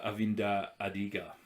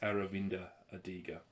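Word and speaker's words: Aravind Adiga: read this one uh avinda adiga is that how it's pronounced close aravinda adiga this is the story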